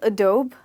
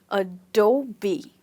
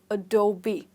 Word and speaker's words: Adobe: Is it called Adobe? Most of us do call it like that, when it's actually called Adobe. Right? So this is B, the B that you know, and that's how you can remember it, by remembering the B. So you call it Adobe and not Adobe or Adobe or anything like that.